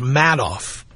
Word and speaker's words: Madoff: you would think sprouts mad off if you pronounces it madoff I think he's sending you a hint Bernie Madoff of my money seriously